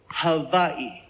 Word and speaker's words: Hawaii: First things first, the proper pronunciation is havi.